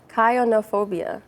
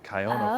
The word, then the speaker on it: chionophobia: It says Kyonophobia. Chionophobia. Oh, there we go. Chionophobia.